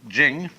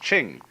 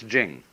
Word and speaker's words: Ching: it's pronounced de, and Jing, there is no apostrophe after the CH, so if there were it would be pronounced Ching, but it's Jing, like a J.